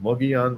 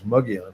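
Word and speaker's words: Mogollon: One's called Mugion, which is uh it doesn't look like it's spelled that way, but it's Mugon is how you say it.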